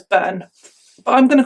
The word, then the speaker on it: Byrne: case is Caroline burn it's spelled b-y-r-n-e and I'm gonna pronounce that as burn but I'm gonna call